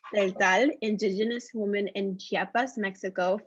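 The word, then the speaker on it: Tseltal: Sandra began her professional career as a community organizer, working with Maya, if you could help me pronounce this. Celtal. Celtal, indigenous woman in Chiapas, Mexico from 1999 to 2008.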